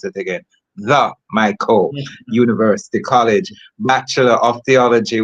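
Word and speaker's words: Mico: An accomplished educator, Reverend Reed holds a bachelor of education from the Mo University College. Let me pronounce it again. the MCO University College, Bachelor of Theology with a minor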